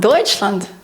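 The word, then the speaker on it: Deutschland: звук ч і найяскравіший приклад - це das deutchland deutchland Німеччина далі в нас ідуть дві буквисполуки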